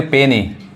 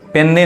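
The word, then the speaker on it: penny: इसको क्या पढ़ेंगे, पेनी, पेन्नी नहीं, पेनी, डिनर, डिनर, डिनर।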